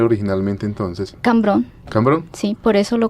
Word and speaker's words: Cambrón: ¿Y cómo se pronunciaba originalmente entonces? Cambrón.